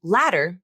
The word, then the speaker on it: ladder: So both letter and ladder have the flap, even though letter is spelled with the letter T and ladder is spelled with the letter D. Both these words are pronounced with flaps because the T and D are between vowels. And they begin an unstressed syllable, like you see here in the IPA transcriptions.